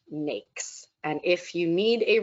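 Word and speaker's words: NAICS: system code is pronounced snakes and if you need a reminder snakes cakes it rhymes with those words um being able to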